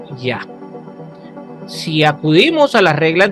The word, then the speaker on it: Yah: es abreviado, es decir, escrito solo con una Yod y una Hei, y con las 4 consonantes como YHVH o Yod-Heh-Vah-Heh, su pronunciación es Yah.